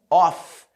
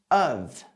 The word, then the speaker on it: of: Ao contrário do que muita gente pensa, a pronúncia correta não é of, mas sim of.